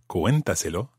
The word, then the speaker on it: cuéntaselo: There's an accent on the E of cuéntaselo. Because, of course, we need to keep the stress on that syllable, cuenta. We couldn't say cuéntaselo or cuéntaselo or anything like that. Cuéntaselo, it has to maintain the stress on the cué, cuéntaselo syllable.